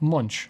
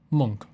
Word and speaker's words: Munch: right, and turns out it's not Munch like everybody says, it's Munch.